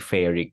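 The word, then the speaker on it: ferric: so fe2 ferus fe3 feric fe3 is feric so remember Fu rhymes with two faic rhymes with three no fairy3 so where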